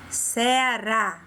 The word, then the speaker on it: Ceará: Ceará, observou? Vovó. O som fica aberto e a sílaba que está acentuada, ela é falada de forma mais forte. Quando a gente pronuncia essa sílaba, a gente fala com ênfase, com força.